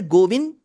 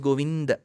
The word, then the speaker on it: Govinda: wrong because generally so that is wrong the north Indian pronunciation of Ram gosh that is also wrong so it's neither Ram nor Rama it is Rama it is neither goind nor goinda it is goinda so I had to